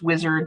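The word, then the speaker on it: WISAARD: consider and there is funding for it okay wizard dap uses and that's how it's pronounced too i've heard it pronounced wizard in different in different ways but it's wizard w-i-s-a-a-r-d um dap uses this massive online database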